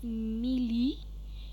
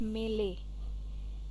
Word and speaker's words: melee: Lash next melee melee please be very careful it is not pronounced as mili Japanese but it is